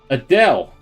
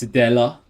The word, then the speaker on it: Adela: turn I can grab that Adele Uh I got her name wrong it's Adela uh and she's still